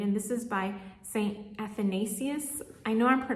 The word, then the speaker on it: Athanasius: This is going to be my Advent read, and this is by Saint Athanasius. I know I'm mispronouncing that because I think I learned how